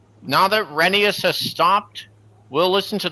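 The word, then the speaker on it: Rheneas: I pronounced it Renee instead of Renius.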